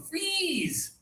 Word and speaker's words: freeze: Here we have the high tongue, freeze.